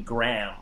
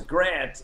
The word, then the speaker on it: Grant: said my name wrong he called me graham instead of grant and and i would correct him and say and say no it's grant and he would you